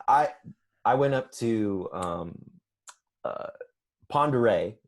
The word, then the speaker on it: Pend Oreille: I went up to ponder a is how it's pronounced but it don't look like Pend Oreille telecoil gotcha yeah so